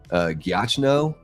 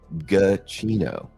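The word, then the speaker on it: Giacchino: So when I see that name, it looks like it's a gacho or something like that. Uh but it is pronounced gacino. It's interesting. Yeah, gino.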